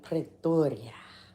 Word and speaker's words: Pretoria: You said it right the first time. Pretoria. Almost sounded native.